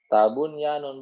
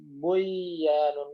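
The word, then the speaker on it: بنيان: Bunyanun bukan buyanun bukan, tapi dibaca jelas bunyanun.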